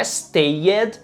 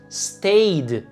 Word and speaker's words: stayed: na minha pronúncia mas a letra e dali do Ed que a gente adiciona no final dos verbos regulares no passado o e na verdade geralmente a gente não pronuncia ou seja ali o passado de não é stayed e sim stayed o passado de work não é worked diga worked e sobre essas regrinhas